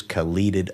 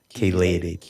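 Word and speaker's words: chelated: I use caled iron. Is that how you say it? Keelated. Kad kated.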